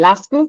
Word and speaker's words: Lascu: If you want to pronounce it not like the Aussies do, it's technically supposed to be Lascu, but I'll take any version of that.